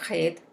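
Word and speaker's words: ח: Una de las letras de esta palabra es la letra Het, que se pronuncia como la J del español, la J fuerte del español, y fue cambiada por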